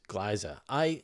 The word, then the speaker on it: Gliese: Why is Gliese pronounced Gliese? It's a German word.